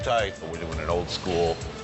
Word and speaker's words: charcuterie: How do you pronounce that one? Charcuterie? Charcuterie.